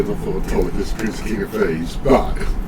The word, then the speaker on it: Autolycus: So your name is Tolkias or Tolkias? Autolycus.